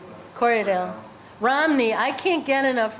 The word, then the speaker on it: Corriedale: Say like you're seeing your buyers want more Romney or more Korean, or how do you pronounce that? Corriedale.